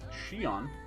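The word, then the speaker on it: Xion: followup nonsense shitty yeah even though the city is spelled x i o n which is more Chinese which would be pronounced Shion they've gone for the religious Zion which is usually spelled z i o n I don't know the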